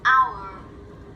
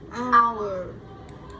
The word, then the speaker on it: hour: Và có một số từ mà có chữ H nhưng mà lại là âm câm. Hour. Hour. Hour. Ở đây là mình chỉ có phát âm cái đoạn phía sau thôi, còn chữ H là không có gì.